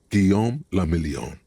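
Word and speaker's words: Guillaume Le Million: Gom lamelon. If it doesn't rhyme, you're not pronouncing it right.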